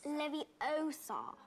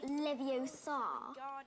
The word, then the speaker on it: Leviosa: It's Leviosa, not Leviosa. You do it then if you're so clever.